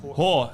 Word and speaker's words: Hoare: Whore, like the lady of the night.